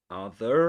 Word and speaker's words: other: Okay, other other no ra at the end, but in this case because in the dictionary it's followed by a pause, right?